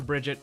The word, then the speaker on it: Brigitte: of tor Buren but it was Reinhardt who's German that gave her her name so therefore you get the German pronunciation or you could just call her Bridget I don't think anyone's